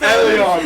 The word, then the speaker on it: Elon: Well, yeah, it sounded like you said Alien Musk at first. Elon.